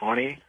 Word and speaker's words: Ani: papyrus if you're familiar with the Ani it's pronounced Ani for pirates of the